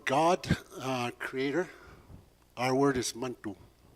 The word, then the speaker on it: Manitou: For God, Creator, our word is Mantu. It's spelled Manitou, but we say it so fast, it sounds like Mantu.